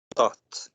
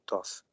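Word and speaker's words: Thoth: Maat e seu esposo, Tot, ou Toth, depende da pronúncia, né? Que depois ficou correlacionado a Hermes Trismegisto, na cultura grega, mas ele, para os egípcios, se chamava Tote e era simbolizado de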